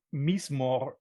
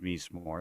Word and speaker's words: Mizmor: Yeah, Mizmor is the Romanized version, and I'm pronouncing it in a very English way. I think it's actually pronounced Mizmor, like you said, but Mizmor means psalm in Hebrew, Mhm.